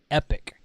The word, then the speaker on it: epoch: three YouTube videos and they were all pronouncing epic and I said Epoch but Epoch so in the in the satellite world when we sync time with satellites and do other things like that it's epic time we call it epic